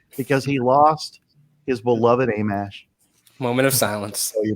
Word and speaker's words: Amash: I always thought it was Amish, like the Amish, like the buggy people.